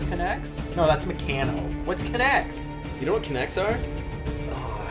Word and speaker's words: Kinect: we don't have a connect right now so we're not going to I believe it's pronounce connect connect sorry connect connects